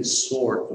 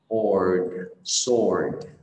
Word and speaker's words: sword: Thì cái từ sword này là một cái từ rất là khó mà đọc được, bởi vì làm sao âm or làm âm khó, âm d ở cuối cũng khó luôn. Mọi người đọc nha, ord, sword, sword.